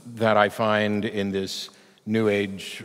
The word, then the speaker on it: new age: I find in this new age rhymes with sewage woo stuff to to